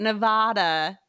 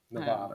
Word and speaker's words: Nevada: But Nevada is more than likely learned from reading.